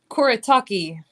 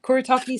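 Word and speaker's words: Kuretake: Koritaki Starry Colors. Koritaki spelled like that. K U R E T A K E. Kuritaki starry watercolors.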